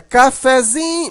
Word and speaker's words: cafezinho: A sílaba mais forte aqui é o zin, né? Cafezinho, mas o fé continua um pouquinho forte.